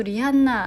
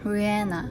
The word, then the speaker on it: Rihanna: 라고 했어요 또 하나 생각지 못한 점은 가수 리한나 아시죠 한국에 사는 리한나 라고 하는데 영어로는 후 해나 라고 해요 h 소리가 별로 안 들려서 영어발음이